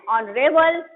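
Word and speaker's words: honorable: An honest, N ऑनरेबल, ये सब आपका क्या है? वॉवेल का उच्चारण हो रहा है इसमें, है ना।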